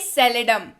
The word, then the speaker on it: seldom: Third word की बात करते हैं जो कि है एस से, और इसको प्रोनाउंस करते हैं सेलेडम, SELDOM, सेलेडम।